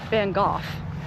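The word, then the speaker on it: Van Gogh: If you're American, we say Van Go. If you're European and pronounce it correctly, Van Go. So, um we are going to see our Americanized version, Van Go.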